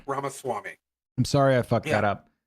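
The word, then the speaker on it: Ramaswamy: ramw R Swami V it's pronounced ramas Swami I'm sorry I [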